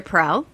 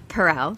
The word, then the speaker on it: Perel: know what i used to call her esther pearl and you had mentioned that many people do mispronounce her name it's astaire that's right perel yeah and when she learned of this group